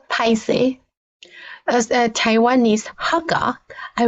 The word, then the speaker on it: 歹勢: The character is 歹是 but it's pronounced Paise.